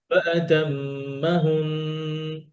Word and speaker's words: فأتمهن: بكلمات فأتمهن قال না, যদি আমি থেমে যাই তখন আর ফাতাম্মা হুন্না, ফাতহার উচ্চারণ আর হবে না, ফাতহার সাউন্ড আর তখন হবে না, তখন কি হবে? ফাতাম্মা হুন, নুন শাদ্দা, ইফ you stop on them on ইট, Okay, it will be গুন্না।